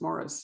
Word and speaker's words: Maurice: want to call him maurice and it's really hard for me to call him morris so for those who are wondering it's spelled m-a-u-r-i-c um and but it's pronounced morris in brits yeah in